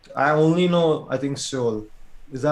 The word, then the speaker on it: Seoul: So So so like where like I only know I think Seoul. Is that how you pronounce it? yeah, Seoul.